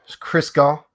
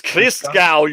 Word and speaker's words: Christgau: me and Crisco. Did I say it right? It's Christgau, you fool. Crisco. Christgau.